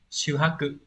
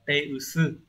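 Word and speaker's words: 手薄: Do vậy là không đọc là shuhaku. Ở đây chúng ta sẽ đọc là teusu.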